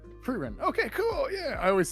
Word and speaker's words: Frieren: goofy sometimes, especially uh I always pronounce her name wrong, even though she's like the main character of the show. Uh Ferrerin. No, you Frein.